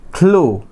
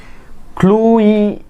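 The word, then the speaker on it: clue: Now come to the next one ইজ ক্লু। ক্লুই এরকম হবে না, ক্লুই হবে না, লাস্টের ইটা কি সাইলেন্ট লেটার, এখানে ক্লুই হবে না, ক্লো।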